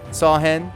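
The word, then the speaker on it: Samhain: Beline pronounced Bellatennena is Irish is the second largest holiday in the pagan calendar behind Sam Hayne. Thank you for saying it phonetically. Saw hen which is Halloween the barrier between this world and the other is at its thinnest.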